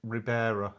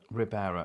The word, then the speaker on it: Ribera: Oh, it's like Ribera. Ribera.